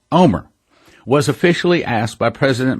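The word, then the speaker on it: Olmert: On April 6th, Omer, spelling O-L-M-E-R-T, but pronounced Omer, was officially asked by President Moshe Katsav to form a government.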